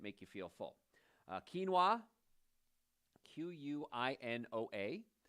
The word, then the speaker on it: quinoa: you feel full quinoa q-u-i-n-o-a it's not coina it's quinoa k-e-e-n-o-a it's kind of if you had to spell it phonetically but quinoa is great